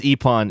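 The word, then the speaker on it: Ippon: else as long as epon is involved in in some way i wonder if we're even pronouncing that correctly i-p-p-o-n yeah we got it right who cares anonymous words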